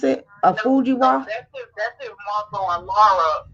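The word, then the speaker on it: Fujiwhara: How you pronounce it? A Fujiwa.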